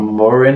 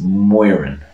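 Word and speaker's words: Móirín: mormons out there but there's more of a w at the start so it's not morin it's moiran okay yeah moving on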